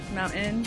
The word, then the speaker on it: mountain: - Moun'in (laughs). - 마운-인 이요. - Moun'in. - 마운-인. - Moun'in. - Forget our ts. - T는 생략한다. We don't have time for ts.